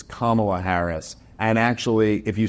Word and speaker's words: Kamala Harris: then they're like uh it's not Kamala Harris it's Kamala Harris and actually if you